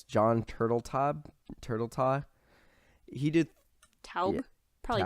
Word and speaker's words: Turteltaub: So, I never know how to pronounce his name. It's John Turteltaub.